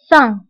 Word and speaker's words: faim: فبالنسبة للفم نكتبها بام في آخر الكلمة ولكن لا ننطقها بام. نقول faim.